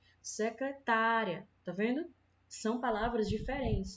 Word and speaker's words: secretária: na palavra secretaria Secretaria é diferente da palavra secretária certo na palavra secretaria Dá para perceber que a sílaba mais forte a sílaba tônica é um